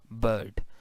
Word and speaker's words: bird: So because this is the pronunciation bird, because we are not pronouncing r, once again American pronounce r but British do not, rp do not.